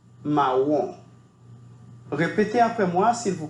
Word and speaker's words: marron: La pronunciación es realmente similar al español, pero requiere suavizar un poco la R, ¿bien? Y la nasalización al final se reduce. Marron.